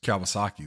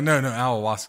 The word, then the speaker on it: ayahuasca: Well, that just means somebody spiked Rodgers Kawasaki. That's all. He's back to saying it wrong, AJ. No, ayahuasca.